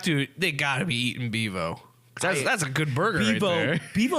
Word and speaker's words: Bevo: we pronouncing this incorrectly it's Bevo it is Bevo yes okay you keep